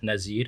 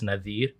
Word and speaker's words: Nadir: So my brother his name is spelled Nazir, but it's Nadir.